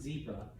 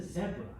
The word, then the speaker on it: zebra: that or zebra okay most americans would pronounce it zebra in other english-speaking countries i found out yesterday even some canadians call that a zebra okay and i tell people we're the weird ones there okay because i've